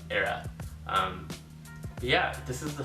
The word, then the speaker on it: Hera: up is from a company called Eda or Hera as you would probably pronounced in English in Korean it's era um yeah this is